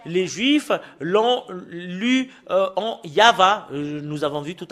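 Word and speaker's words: יהוה: la Sainte Écriture Hébreux c'est yava qu'on le prononce et vous pouvez pas lu faire une discussion et le contredire que c'est yava voilà l'original de cette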